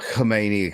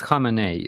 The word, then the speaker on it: Khamenei: It's not Khomeini. It's so fucking close. I mean, how do we say it? Come on, Starsky, you sort us out. How do we pronounce it? It's Khamenei. Khamenei was their previous dictator,